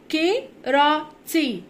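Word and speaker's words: karate: يمارس لعبة الكاراتيه، دو هنا معناها يمارس، وكاراتيه بننطقها كيراتي كيراتي كيراتي.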